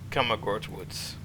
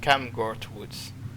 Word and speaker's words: Camgord Woods: Woods let's go to come Accord Woods uh oh sorry I mispronounced my apologies is camgord Woods it's a Piney Woods